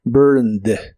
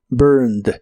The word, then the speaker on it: burned: ser burned o burnt en el pasado usa Ed Aunque solo se pronuncia la d burned burned Aunque la forma burnt